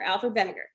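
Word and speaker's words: Wegener: german or austrian but that that w is pronounced like a v so that's vinegar alfred vinegar so he's the one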